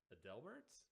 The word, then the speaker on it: Adelbert: do you pronounce it Adelbert that's it you got it right most people are Adelbert albert's yeah it's you got to think the singer and the guy from Sesame Street Adele Bert's Sarah Sam the gang